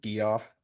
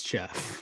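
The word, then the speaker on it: Geoff: guy's name was Jeff is that how you pronounce it Jeff or gu off Jeff that would be Jeff it's Jeff sure Jeff ctol had five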